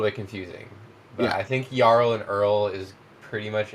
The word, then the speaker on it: jarl: Like in the Old Norse is Yarl, but they're also saying Earl and in like the Viking show they call them Earls.